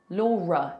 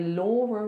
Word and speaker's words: Laura: It ends on a schwa. But what other words end in a schwa in English? We have mother, father, water, better. Oh look, R. So that schwa sound sometimes is spelt like ER. So if I have to link my name to something else that's a vowel, I have to put an R in there.